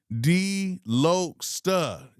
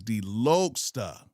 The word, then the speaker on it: Delokesta: Delokesta. Okay. Delokesta. I see LOC lock. I'll be thinking lock. It's Delokesta.